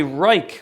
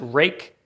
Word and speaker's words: Ruike: Next on the list, we are going to look at the Ruike, or Rake. I'm not sure how you say it. I'm pretty sure the Chinese want you to pronounce it Rake.